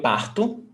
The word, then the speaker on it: parto: Eu parto. Você parte. So now you see that the stressed syllable is before last.